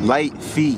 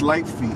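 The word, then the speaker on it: lite feet: Light feet. Yeah. Okay. Light feet. Spell it real quick. It's light feet.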